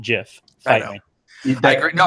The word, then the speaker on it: GIF: I know, because they look at you like for the same reason that I pronounce it GIF, not GIF.